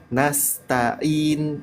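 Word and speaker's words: نَسْتَعِينُ: ada di huruf Ain nastainin bukan in tapi a a ainya ditekan sedikit ya Dan kalau kita lihat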